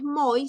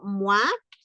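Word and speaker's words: mois: gran y tú no es muy sino muak y miren nasal no decimos grande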